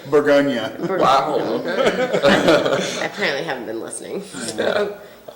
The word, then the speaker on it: Bourgogne: It's Bourgogne, right? Bourgogne. Bourgogne. Yeah. And what do people say? Bourgogne.